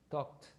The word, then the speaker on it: talked: Talked. Talk. With T at the end. The pronunciation is with T. You write it with ed at the end, but the pronunciation is like T. Talked.